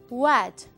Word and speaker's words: what: What. La W se pronuncia como una U.